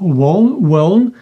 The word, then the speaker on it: won't: І це читається як won't, так? Така буде транскрипція. Не путайте зі словом «хотіти». Ви не кажіть I won't. А ви кажете won't. I won't. У вас тут у має бути чути.